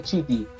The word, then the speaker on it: Cinecittà: Disculpen Ah, no tengo muy Cine, buena pronunciación. La productora Cine, Cinecittà.